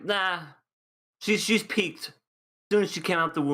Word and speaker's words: Pieck: I've been calling her Peck. I called her PIECK. Peak. Okay, so Peak, Peck, and PIECK. But no, Peak is, I think, the right way to say it.